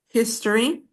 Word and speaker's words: history: The stress is on the first syllable. History.